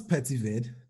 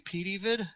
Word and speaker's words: PeteyVid: sure that that'll be fine so um what's petitvid so uh the pronunciation is actually p d vid p-e-t-e-y and it's fine to say the way